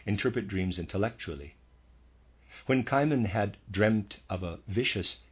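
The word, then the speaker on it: Cimon: you just one example kiman I'm going to pronounce that kiman c i m o n a well-known historical figure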